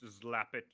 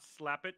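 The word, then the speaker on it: Xlapit: It's Zlapit. It's not Slapit. It's Zlapit with an X.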